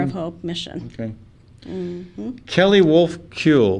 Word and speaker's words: Wulfekuhl: well that's harbor of hope mission okay Kelly wolf kyoool wolf cool there we go I want to I want to change the spelling or the pronunciation of your last name thanks so much